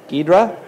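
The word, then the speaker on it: Ghidra: Does anybody know how it's pronounced? Gidra.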